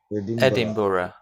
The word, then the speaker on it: Edinburgh: look like it at all it looks like edinburgh it looks like three syllables but we say edinburgh yeah but we don't say it like that we say it edinburgh but there's no full syllable here there there is no syllable if